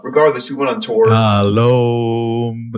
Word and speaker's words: shalom: You know, I think it's called the Shalom Tour. Yeah. It was basically like, maybe I got the tour name wrong. but I have to look it up. Regardless, we went on tour. Shalom. Emphasis on Om.